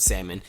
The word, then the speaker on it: salmon: That's the only reason why I know how to pronounce the word salmon that has the L in it. You don't pronounce the L, and she used to make sure we knew that.